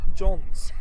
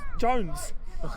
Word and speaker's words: Johns: The ones that realised it, I kept going to say Jones instead of Johns.